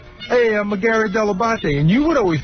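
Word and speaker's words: Dell'Abate: I don't remember specifically day one, but I know I got the pronunciation deabate from you.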